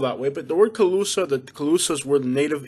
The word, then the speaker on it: Calusa: Calusa. I don't know why it's spelled that way. But the word Calusa, the Calusas were the native Indians that were in Southwest Florida.